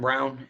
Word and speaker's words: Braun: Yeah, Christian Braun, or Christian Brown is his name. It's spelled Braun.